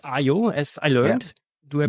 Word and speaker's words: aiio: already mentioned the name of the tool it's IO as I learned do I pronounce it the right way are you right